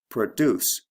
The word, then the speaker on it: produce: which is an object so produce has a long o product has a short o and then of course